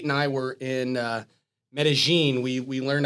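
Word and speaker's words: Medellín: there uh when you when you read the word uh it looks like median but it's uh Medellin is how it is pronounced so we spent a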